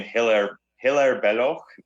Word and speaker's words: Hilaire Belloc: Look, I'm going to quote the great historian Hilaire Belloc. That's his way he pronounces his name.